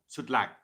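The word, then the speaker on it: Sütlaç: Sutlac. It looks like a C, but they pronounce it here in Turkey.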